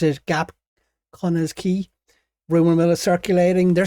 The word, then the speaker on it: Quay: Why do I say Quay? It's Quay.